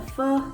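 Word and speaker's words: Pho: read it is called a fu love story that's how it's pronounced so it follows or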